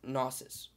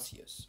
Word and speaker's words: gnosis: one during research and that's gnosis not seus or whatever i can't sorry i